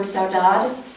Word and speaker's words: saudade: me this is worth knowing so you can pronounce this word saudade in the Portuguese word and it sort of